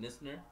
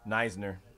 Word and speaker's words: Neisner: How do you say it? Nisner? Neisner.